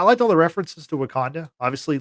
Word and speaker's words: Wakanda: Do you mean Wakanada? Wakanata. Yeah, as Bruce Banner calls it. Wakanada. Yeah. Um Wakanata. Not not a bad not a bad interpretation of Wakanda.